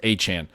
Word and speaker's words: Etienne: Travis Etienne claims his name is pronounced A-Chan.